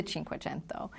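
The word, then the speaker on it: Cinquecento: just how you pronounce it it is the chin quento um it's just we pronounce it 500 in the US but I just thought from a branding standpoint would you want to use the name Chinko chento doesn't sound like you do we will we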